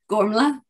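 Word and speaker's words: Gormflaith: again because i am going to butcher it gormla okay that that's not how i would have pronounced it but everyone pronounces it but that's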